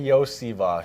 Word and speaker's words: Iosivas: Yeah, it's Andrei Iosivas. Iosivas. So, some people know me as Yoshi, but the SH part comes at the end of my name, actually.